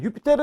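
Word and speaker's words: Iuppiter: 우리가 명칭을 갈 수 있을 것 같습니다 자 유피테르 언제나 티머시 발음 이구요 우리는 영어식 발음에 조 익숙해져 있죠 주피터 록 쭉 주피터 제우스 같은 말이에요 4 있어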